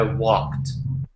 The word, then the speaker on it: walked: And just a little pronunciation tip, even though it's spelled walked with a D at the end, so walked with the D, you want to say the D as if it were a T.